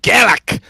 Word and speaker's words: Garak: It's pronounced Garak.